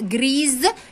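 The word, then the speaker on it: grise: الحكايه هزود لها او، وهتتنطق جريز لان الاس لما احط وراها الاو تتنطق زد.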